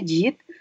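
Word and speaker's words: Jeet: his or something n tulisannya j e e t j Jit bacanya Jit tilnya t h a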